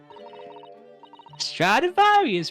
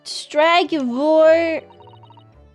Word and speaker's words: Stradivarius: Stradivarius, Mr. Naruhodo. I'm clearly saying it correctly. Stragivor.